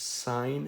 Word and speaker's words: sine: to be called the sine function he usually will see this abbreviated as SI n that is still pronounced sine it is not pronounced sin so sine sine is